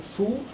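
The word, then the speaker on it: 福: Now that's the pronunciation fu, and which literally this means fortune, means luck, or happiness, prosperity.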